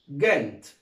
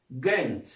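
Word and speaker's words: Ghent: طيب الكلمة اللي بعدها جي اتش اي ام تي، طبعا برضو الاتش عندنا سايلنت مش هيتنطق، وهنطق حرف الجي جيم، يبقى اسمها جنت. اسمها ايه؟ جنت.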